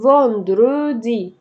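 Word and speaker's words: vendredi: لاندي ماردي ميركرودي جودي فوندرودي.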